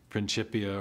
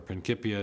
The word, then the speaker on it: Principia: book written in 1687, the Principia or Principia, depending on your preferred Latin pronunciations.